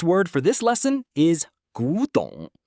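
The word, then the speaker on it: 古董: Our last word for this lesson is gǔdǒng, pronounced gǔdǒng.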